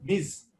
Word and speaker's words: Ms: এটা হচ্ছে যে এমএস দিয়ে যে আমরা মিস বুঝাই সেটা কিন্তু উচ্চারণটা মিস, MI জেড এর মতো মিস।